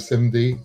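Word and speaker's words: CIMD: into the direction of SIM D. Um and for those of you who've never heard that pronunciation of the acronym, SIM D is client met CMID or the client metadata identity document.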